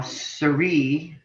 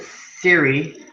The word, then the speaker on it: Serie: just talking about uh Our Roots and how Siri most people pronounce it Siri but is Sir and it's French we were